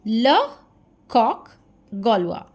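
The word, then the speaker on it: le coq gaulois: This is the pronunciation ल कॉक गोलुआ।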